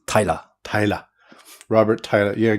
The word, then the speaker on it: Taira: But I have been called Tiara a lot.